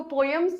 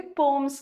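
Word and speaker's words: poems: अभी तक हम इसको पोएम्स बोलते आ रहे थे, बट अभी खुलासा हुआ कि इसको पोएम्स नहीं बोलते, पोम्स कहते हैं।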